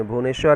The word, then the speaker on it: بھونیشور: اسی طرح بھونیشور ہے، اسپیلنگ اس کی غلط ہوگی، بھوپینیشور لکھا ہوا ہے لیکن بھونیشور ہے وہ، چنڈی گڑھ، بھونیشور۔